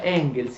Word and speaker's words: Engels: Attenzione, non lo confondete con Hegel, si chiama Engels, Friedrich Engels, scritto Engels, ma si pronuncia Engels in tedesco.